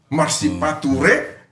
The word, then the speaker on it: marsipature: kan tapi Bung perdaus jangan salah intonasi pronounciation marsipatu rehutan itu berbeda dengan orang ada yang marsipatu ya makai sepatu mungkin karena banjir marsipature sama-sama membangun kota gitu loh jadi harus bisa Kita bedakan ini mana ini marsipatu